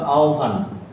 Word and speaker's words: আহ্বান: যে এই শব্দটা হয় ব আহ্বায়ক কিংবা আহ্বান, ঠিক আছে? আমি আহ্বানটা লিখে দেখাই যে এই, এটা যখন উচ্চারণ লিখতে যাব তখন আমাকে লিখতে হবে কিভাবে? আও, তারপর হচ্ছে ভয়ের মতো উচ্চারণ হবে এই বটা।